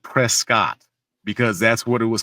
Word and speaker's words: Prescott: But it's called Prescuit. It's spelled Prescott because that's what it